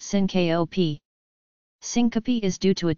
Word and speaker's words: syncope: to an emergency room it is pronounced CIN Kop syncope is due to